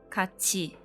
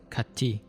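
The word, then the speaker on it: 같이: exceptions are for example so they are pronounced as kachi instead of katie and kudi instead of kodi when there are two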